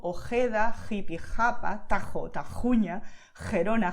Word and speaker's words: Ojeda: So you just expel the air and that's it, okay? So you feel like the hot air coming out of your mouth. So most Spanish speakers, especially in Latin America, they would pronounce these words as you can hear now. Jalisco, Ojeda, Jipijapa, Tajo, Tajuña, Gerona, Gijón. Okay, and that's totally correct.